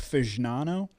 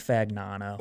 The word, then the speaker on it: Fagnano: You think it's pronounced Fagnano? Nah, it's Fagnano.